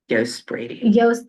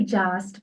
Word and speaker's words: Yost: And today, my lovely guests are Ajax Green and Shelly Yost Brady. Okay, I was going to say Jost, but I didn't want to say it wrong, so that's why I kind of hesitated and looked at you.